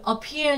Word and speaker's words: appear: Còn từ appear nhấn vào peer, disappear vẫn nhấn vào peer, disappearing nó vẫn vào peer.